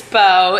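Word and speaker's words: Beau: His name is Bo. It's spelled B-E-A-U.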